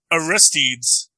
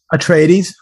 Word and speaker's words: Atreides: political standpoint pitting the harkonnens against the uh arrest deeds atreides okay sorry how do you pronounce it atreides atreides pitting the harkonnens against the atreides makes